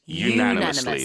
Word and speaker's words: unanimous: person has said yes exactly the pronunciation is what you want to keep in mind here even though it starts with a un it's not a Anonymous no it's it's unanimously like United ah yes indeed so regardless of where you are in the world and there are many different pronunciations of English but for this one it's always going to be unanimous yeah the pronunciation is